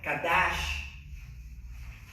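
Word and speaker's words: קדש: Le pueden poner un acento en la A para que sepan que es kadash, como cash, ¿verdad? Pero es kadash. Kadash.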